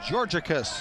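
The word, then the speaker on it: Georgakas: a k a s we are it is pronounced georgicus and the first pitch to Simons is fouled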